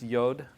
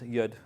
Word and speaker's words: yud: no not more yeah the yud you might have heard it pronounced yod but the yud is actually I I confirmed this with my Israeli friends yud is is right um this is one